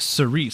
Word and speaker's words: Cerise: It's pronounced Cerise, so it's GG Cerise.